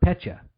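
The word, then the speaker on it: Petya: download Aurora exactly or Pecha that's another one I think I pronounced that correctly it's PE tya either way that's the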